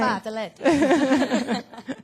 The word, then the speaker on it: Bartoletti: Got it right. I was worried about that name. Bartoletti. My mama's not here. She would say it like that. My mom's Italian.